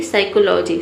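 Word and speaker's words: psychology: सबसे पहला वर्ड है साइकोलॉजी। साइकोलॉजी में यहाँ पे पी लेटर साइलेंट रहता है, हम पी को प्रोनाउंस नहीं करते हैं, एस वाई को बोलते हैं साई, ठीक है।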